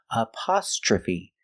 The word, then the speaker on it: apostrophe: p we have the short sound a like stop and hot a a apostrophe TR R makes the sound CH like chicken apost apost aostra aostra we use the short a sound like cup and up aostra Fe the last sound is Fe the long e like green beans again apostrophe apost trophe